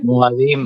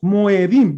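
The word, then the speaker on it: מועדים: ¿Y cómo se dice en plural? Las Moed, Moed. ¿Cómo se dice en plural? A ver, díganme. Moadim. Moadim. Moadim. ¿Se dan cuenta? A. Pero entonces, ¿por qué no decimos Moedim, Moedim? Ahí está la E y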